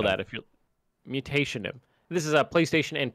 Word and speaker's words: Mutationem: Mutationem? Mutinium. Metonium. Metonium. Metonium? Okay, think of mutation and then add an EM to the end. Yeah. That's how you spell that. If you're Mutationem.